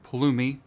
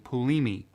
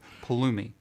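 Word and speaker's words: Pulumi: top of the hour paloomy i there i said it right finally joe and everybody else at palumi forgive me for always saying bulimi i don't know why i do that it's just it's habit paloomi we need to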